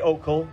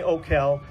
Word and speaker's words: Okell: here for me how do you pronounce your last name because i've been saying opal for years americans say okal canadians say ocal and english say you owe us money all right we're here